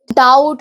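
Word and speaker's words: doubt: तो सबसे पहले बी साइलेंट रहता है, जैसे बॉम्ब, डम, क्लाइम, डाउट, डेप्थ, इन सब में बी जो है साइलेंट रहता है।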